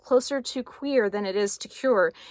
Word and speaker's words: cuir: Now, it's actually pronounced closer to Cuir than it is to Cuir, but it has like a French sound to it, and I can't do that sound.